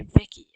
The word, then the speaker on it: Vichy: Vicky? Some people say Vicky. I say Vichy, but they helped overthrow Vichy France, led by the traitor de Gaulle.